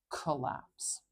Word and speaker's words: collapse: Now this is another time that English spelling is lying to us. We have two L's here. I'm not saying that sound extra long, and I'm not changing how it's pronounced. Collapse, collapse. I'm not saying collapse extra long. No, just one.